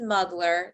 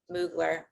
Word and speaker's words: Mugler: wardrobe malfunction a slip um so this is muggler the dress okay and i had just come from mugler okay not muggler according to this person over here in the